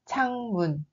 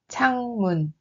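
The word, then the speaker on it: 창문: Le deuxième mot est changmun. Changmun. Changmun. C'est une fenêtre. Il faut bien prononcer la consonne aspirée ch.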